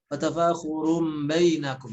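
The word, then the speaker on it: وَتَفَاخُرٌ بَيْنَكُمْ: Di sana ada iqlab, ya, tanwin dhammah bertemu dengan ba juga sering banyak ditinggalkan, harusnya ditahan 3 harokat, ada sebagian yang membacanya 1 atau 2 harokat. Wa tafakhurun bainakum, salah, tapi ditahan dulu. Wa tafakhurun bainakum.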